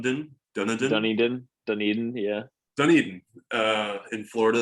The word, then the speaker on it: Dunedin: to go see a blue jays i can't pronounce it dun dun dun dun dunny din dunedin yeah dunedin uh in florida that might be